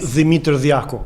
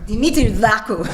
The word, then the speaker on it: Dimitri Daku: I should pronounce it in our way, Dimitri Daku, right? Dimitri Daku, thank you.